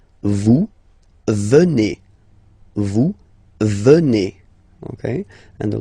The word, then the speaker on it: venez: Okay, then classic ending for vous, Z here, and then you pronounce it et, vous venez.